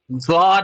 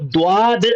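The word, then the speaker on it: ضاد: جاتا ہے تو یہ زاد ہو جاتا ہے. زاد کو دواد نہیں کہتے ہیں، کیونکہ اس کا تلفظ، جو اس کا پروننسیشن ہے، جو اس کا اچارن ہے، وہ زاد ہوتا ہے.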